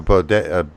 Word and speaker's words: bidet: Yeah, you have a bidet. What is it? How do you pronounce it?